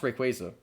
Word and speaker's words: Rayquaza: you say it rate quite easily yes it pronounced Rayquaza huh the actual pronouncing I used to pronounce